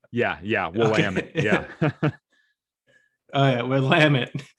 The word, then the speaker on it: Willamette: Willamette? Willamette, How yeah. do you say that river in there? Willamette. Yeah. Some people say Willamette or Oh, Willamette it's a or what? W. Yeah, Willamette.